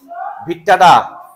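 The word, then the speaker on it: vittata: বেশি জন্মায় কে teres ভিট্টা কি বললাম টেরিস ভিট্টা আবার বাইট্টা বলিও না ভি আই টি টি এ টি এ ভিট্টাডা একটু বাইট্টা বাইট্টা শোনায় না মাজাবিন কি হবে এটা বাইট্টা না লম্বাটা তাহলে টেরিস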